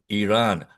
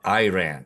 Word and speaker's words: Iran: By the way, it is pronounced as Iran, not Iran. Okay? It's like with an E.